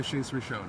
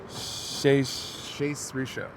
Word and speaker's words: Shais Rishon: Yeah, and then Rabbi name is Rabbi Shais Rishon. It's my real name. Shais Rishon. Shais Rishon. Yes. Am I saying it right? Yes. Shais Rishon. Shais. S-H-A-I-S. Shais Rishon. R-I-S-H-O-N.